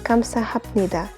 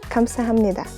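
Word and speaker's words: 감사합니다: assignment will be mud the word for thank you formally will be written as comes to happen EDA but we of course pronounce it as comes to hamnida - plus any silent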